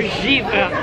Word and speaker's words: givre: And waiting for our givre.